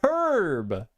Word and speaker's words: herb: So most Americans only pronounce the H when herb is used as a name. Yeah. Yeah. Like Herbert. Like the name herb. Herb is a name. Then it's herb.